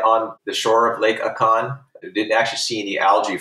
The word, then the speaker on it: Akan: the akan aiken national park how do you pronounce that pecan okay i wouldn't even close all right at a con national park they had some unusual balls of